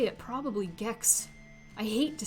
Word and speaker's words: Gex: because i'm looking at gex it rhymes with sex it's not the same